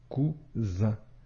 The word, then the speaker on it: cousin: comme le son ce autre exemple cousin ici la lettre S se trouve entre deux voyelles la lettre U et la lettre I la lettre S ici se prononce bien comme le son ze cousin maintenant si on veut